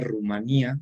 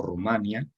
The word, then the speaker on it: Rumanía: hubo una zona de Rumanía o Rumanía ambas maneras de pronunciarlo son correctas que quedó ocupada por